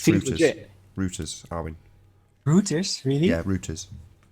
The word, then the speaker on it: Reuters: Reuters, Arwin. Reuters, really? Yeah, Reuters. I think it's Reuters pronounced here, but I think the Americans pronounce it Reuters.